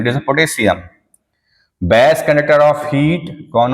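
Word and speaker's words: potassium: अच्छा pronunciation it इज़ अ पोटेशियम। पोटेशियम गलत बोलते हैं इट इज़ पोटेशियम।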